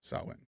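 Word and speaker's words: Samhain: sa sawin ah okay sa is in cow sawin thank you so much for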